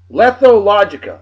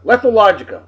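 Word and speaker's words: lethologica: uh La thought oh my God I can't pronounce it lethal logica lethalogica l-e-t-h-o-l-o-g-i-c-a describes the state of not being able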